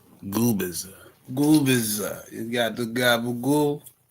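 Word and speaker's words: Gubicza: Gubisa. Gubisa. No, the the C is silent. So, it's Goubbiza. Gooer. Goubbiza.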